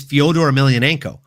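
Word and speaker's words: Fedor Emelianenko: the name he doesn't even know how to pronounce. Like it's Fodor Ailionenko.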